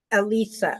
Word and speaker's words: Alicia: yeah her name is Alicia Alicia oh what a very beautiful name I I know don't know say Alisa it's it's like she dos it like Alysa but she pronounced it as Alisa Alisa okay that is beautiful